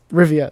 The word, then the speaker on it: Rivia: RI oh my gosh forget it I can't pronounce it anyway Rivia that's what it is yeah yeah good job